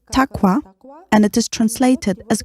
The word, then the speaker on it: taqwa: Yes, in Arabic, this term is pronounced as taqwa, and it is translated as God-fearing.